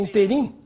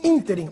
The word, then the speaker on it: ínterim: Embora muita gente fale interim, o intervalo de tempo é ínterim, é uma palavra proparoxítona, agudo no I.